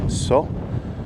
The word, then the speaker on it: Soo: It's about 5 kilometres along the LZ410 to get to the first village, which is So. It's spelt Su, but it's pronounced So.